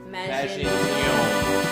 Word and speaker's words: Maginon: Make sure you put the emphasis on that O. Maginon.